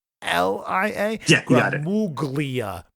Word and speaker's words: Gramuglia: Gramuglia, but yeah, the G after the U is silent. Exactly. It's like a weird Italian sound.